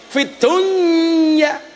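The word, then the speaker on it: فِي الدُّنْيَا: Fid dunya itu bacaan apa? Harusnya idgham loh. Fid dunya. Tapi ternyata membacanya bukan idgham, tapi apa? Idhar.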